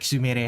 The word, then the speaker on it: Sumire: The same way when you see a Japanese name that ends with RE. With RE, you think it's for example, the name Sumire. You think it said Sumire because it's it's spelled IRE, but no, it's Sumire.